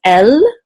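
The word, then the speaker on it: אל: And then this is an aleph with a sagol. Aleph is silent. The sagol says e. And this is a lamed, which makes an L sound. So this is El.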